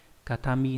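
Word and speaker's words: 形見: Ví dụ trong từ katachi là hình dạng này, katami là vật kỷ niệm. Âm ghép đọc là gyo hoặc là ke.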